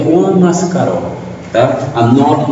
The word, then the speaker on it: Mascaró: Juanmascaro, agudo no O, Mascaró.